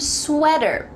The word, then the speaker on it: sweater: pace course top watched what about the word sweater there is a t but like we talked about in american english that t is going to change to a d like the word better sweater not a t